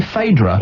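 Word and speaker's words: Phaedra: late centry hello hello hi is your name fedra it is fedra yeah spell it P h a e d r a fadra yeah never heard of a name like that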